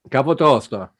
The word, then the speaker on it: Capotosto: We have Nadia Capotosto. Is that correct pronunciation?